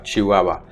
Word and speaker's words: chihuahua: but it's not and the reason for that is the hu combination in spanish is a pronounced w right chihuahua and traditionally this symbol